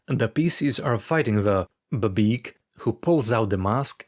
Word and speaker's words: BBEG: You didn't pronounce the word babeeg correctly? Yeah. What? No, it's an acronym.